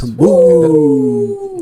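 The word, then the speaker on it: Cambooh: tipo bu de susto. Cambu.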